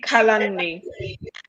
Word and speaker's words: Kalani: house my name is kelani please permit me i hope i'm pronouncing it correctly it's actually it's actually kalani okay okay all the